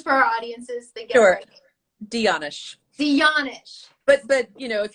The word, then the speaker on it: de Janasz: my doctor today i'm going to get your name wrong danish there you go yeah no not as good as it could be can you say can you say it once for our audiences thank you dionish but but you know if you look at